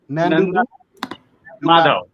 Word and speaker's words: Nandu Madhav: I want to make sure I'm pronouncing your name correctly. It's Madhav. Nandu? Madhav.